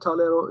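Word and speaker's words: Tagliero: it's is in italian it's called talero g is a sort of silent fiat talero is a gas station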